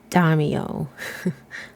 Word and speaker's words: daimyo: So according to my husband, it is pronounced daimyo.